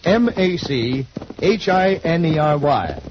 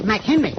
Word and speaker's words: machinery: How do you pronounce M A C H I N E R Y. M A C H I N E R Y. That's M Henry.